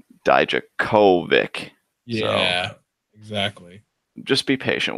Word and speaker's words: Dijakovic: So it's Dijakovic. Yeah. Dijakovic. All right, I'll rewire myself again. Super emphasis on the third syllable there. Like the co part is the part that you're supposed to put emphasis on.